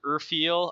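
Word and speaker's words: Urfael: Legends of the Sword Urfiel. I think it's pronounced Urfiel anyways.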